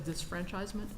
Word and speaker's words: disfranchisement: Um, you add an extra syllable to dis uh historians refer to it as disfranchisement.